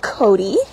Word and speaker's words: coati: he is a white-nosed karate also known as a kawada Mundi or can also be pronounced Cody he is six years